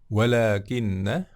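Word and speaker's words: وَلَٰكِنَّ: yang kedua Welah gimna walakinna ya ini salah satu saudaranya Indah walakin disini meskipun pendek ya enggak ada tanda panjangnya dibacanya panjang ya bola Timnas Hai di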